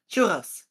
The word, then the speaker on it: churros: Churros, it's like a very hard R.